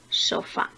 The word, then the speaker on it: sofá: Comenzamos con la palabra sofá. Sofá es una palabra aguda, porque al igual que comer, tiene su sílaba tónica en la primera sílaba.